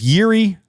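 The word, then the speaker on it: Jiří: more credit to Yuri don't you dare pronounced that Jay it is Yuri leka uh played great maybe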